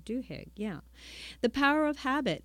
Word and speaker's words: Duhigg: I hope I'm pronouncing that right. Duhigg, yeah.